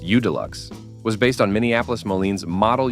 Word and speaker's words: UDLX: The UDLX, pronounced U-Deluxe, was based on Minneapolis-Moline's Model U series, sharing the tractor's four-cylinder overhead valve gasoline engine, displacing 283.7 cubic inches.